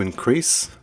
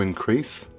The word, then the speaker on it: increase: example the verb to increase to increase stress on the second syllable to increase and the noun has